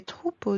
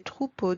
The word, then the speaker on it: troupeaux: As you noticed, we don't pronounce the letter X at the end. X remains silent. Des bateaux, des chapeaux, des manteaux, des troupeaux de moutons, des cheveux.